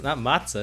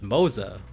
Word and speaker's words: Moza: Not matzah, it's Moza. Like Mozza. Moza. So what about like Mohza? So it's not literally mozzarella. Sure, okay. if it's Moh, then it can be pronounced Moza. Alright, sure.